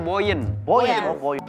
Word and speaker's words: Boiyen: Boen boker boker modolyen tulisannya Boyen bacanya Boyen sampai ambeennya keluar umur umur